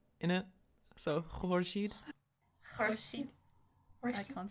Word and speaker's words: Horshid: It does not mean horse shit. Okay, Horshid, it means the sun in Persian, okay? Nobody can pronounce the city we live in except Okay. Okay, so it's kind of like a Q at the start.